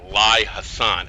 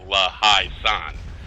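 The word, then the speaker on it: La Haye Sainte: We're just sitting here collecting points from La Haye-Sainte, and I always pronounce it wrong. I always call it La Haye-Sainte, and it's really La Haye-Sainte. I don't know why.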